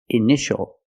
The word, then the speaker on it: initial: patient and this word initial or initials more than one we see TI a together so the t is pronounced sh sh initial initial my initials are